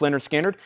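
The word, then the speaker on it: Lynyrd Skynyrd: $33.99 Justin Chase wants Leonard skinnard pronounce Leonard skinnard that's so to Justin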